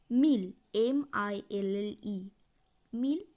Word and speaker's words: mille: কিন্তু যখন ১০০০ উচ্চারণ করব তখন বলবো মিল, MILLE, মিল মানে হচ্ছে ১০০০।